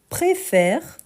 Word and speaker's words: préfère: a le deuxème accent il devient un accent grave en raison de la prononciation donc on aura je préfère je préfère donc on